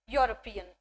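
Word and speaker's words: European: यूरोपियन, तो यहाँ पर भले ही हमारी स्पेलिंग ई से स्टार्ट हो रही है, बट मैंने अभी क्या कहा आपको, जब भी आप आर्टिकल्स लगाएंगे तो आप प्रोनाउंसिएशन पर फोकस करेंगे, उसकी साउंड पर फोकस करेंगे, ना कि उसकी स्पेलिंग पर, ठीक है। तो यहाँ पर भले ही ई हो बट जो साउंड निकल कर आ रहा है वो कौन सा साउंड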